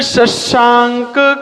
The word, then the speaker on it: शशांक: शशांक, शकार का उच्चारण तालु से होता है। शशांक, सीटी आनी चाहिए आपके मुंह से यार।